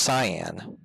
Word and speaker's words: cyan: to let me google cayenne real quick it's actually pronounced cyan or is it saiyan it's it's pronounced it's pronounced it's pronounced cyan my whole life i